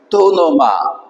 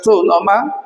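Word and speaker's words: τοὔνομα: Ese es el caso de acá, por ejemplo, aquí está la crasis arriba, dice así, tú no ma. Entonces originalmente se escribe to onoma, eso significa el nombre. Bien, entonces cuando tú encuentras tu noma, es un artículo más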